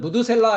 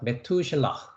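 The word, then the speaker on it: מתושלח: 자, 발음은 한글은 무드셀라 했는데요. 네, 여러분이 이제 히브리어를 공부하셨으니까 메투셀라흐 이렇게 발음을 합니다. 메투셀라흐.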